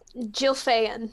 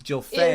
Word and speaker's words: Jilfa'en: So let's start with Jill, and it's Jilfa or Hilfa? Jilfa'en. Jilfa'en is her full name.